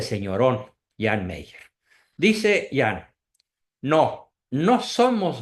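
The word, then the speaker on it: Jean Meyer: muy asertivo muy valeroso se escribe hean Mayer con y se pronuncia Jan Meyer este señor escribió eh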